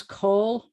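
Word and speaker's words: כל: the tall letter lamid and it rhymes with all that's how i was taught so it's call means all or every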